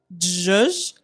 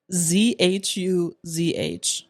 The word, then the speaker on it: zhuzh: Zhuzh is spelled ZHUZH. I can see that. Zhuzh. No, it's zhuzh. Zhuzh with a H.